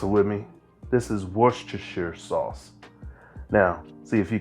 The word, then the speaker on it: Worcestershire: little flavor in here and come on now pronounce it with me this is worcestershire sauce now see if you can repeat yourself saying that worcestershire worcestershire worcestershire all right now for the beef base